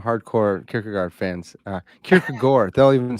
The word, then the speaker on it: Kierkegaard: i have some hardcore kicker guard fans uh kierkega gore they'll even say i know yeah kirika gore there's something pronounced like that um i didn't want to